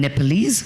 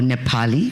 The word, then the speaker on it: Nepali: my heritage my ancestors i'm nepalese or nepali which by the way is the correct way to say it both my parents are